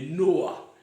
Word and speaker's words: Noah: Ou on peut dire normalement la prononciation meilleure est Noah. N-O-A. Noah, oui, Noah.